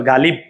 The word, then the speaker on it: গালিব: গা লসলি বহসন্ত, এটার উচ্চারণ হচ্ছে এভাবে গালিব। কেন হসন্ত চিহ্ন দিয়েছি? কারণ হচ্ছে ভাইয়া বয়ের সাথে কিন্তু আমি অ বলি না, গালিব অ বলি না, বলছি গালিব, এই কারণে আমরা হসন্ত চিহ্ন দিয়েছি।